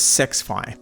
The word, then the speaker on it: SXFI: The other surround sound setting is SXFI Battle Mode, which I believe is pronounced as Sexfi, and who doesn't love a good sex battle?